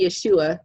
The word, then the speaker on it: Yeshua: So when the word Jesus comes up, you can say Yeshua. You just have to fit 3 syllables in where there's 2, but you can do it.